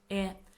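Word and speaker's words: へ: is a direction particle it is pronounced as e but we write it as it indicates Direct ction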